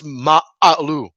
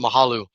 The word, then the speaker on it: Ma'alu: But it's actually it's pronounced it's ma'alu, and so the H is silent and the U is it's stressed. So it's ma'alu, but everybody calls it mahalu, and there's nothing wrong with it.